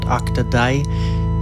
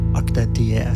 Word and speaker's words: OktaDie: It's supposed to be like Die as in his name, Diego, the developer. So OktaDie.